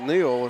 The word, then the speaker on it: Noel: be charged to Maddox Noel a Neil he's pronouncing it Neil it's on our rosters as no else so our apologies to